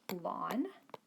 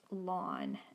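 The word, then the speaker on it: ln: and so it's pronounced lon pronounced like what you grow in your in your backyard or front yard or maybe you don't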